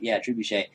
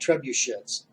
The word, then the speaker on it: trebuchet: Trebuchet. Firing from inside. Whoa, how did you pronounce that? Trebuchet. God damn, all these years I thought they were called trebuchets.